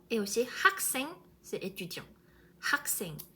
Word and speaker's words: 학생: Mais si vous prononcez comme 학교, comme les Français, les personnes francophones qui ne prononcent pas H, 학교, 학생, genre, on comprend bien sûr, mais c'est pas correct.